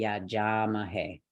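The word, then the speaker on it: यजामहे: to our next word the yajama hey okay last syllable hey could it be this no it's never the last syllable so I'm going to move left Could It Be Ma no ma is a light syllable couldn't be that go left could it be ja ah yes it can all right because this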